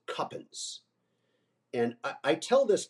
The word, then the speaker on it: Cowpens: he told the crew you were to pronounce it cuppin and I I tell